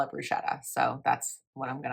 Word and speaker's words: bruschetta: favorites and this is called balsamic bruschetta or brusqueta depending on how you say it. I love bruschetta. I call it bruschetta.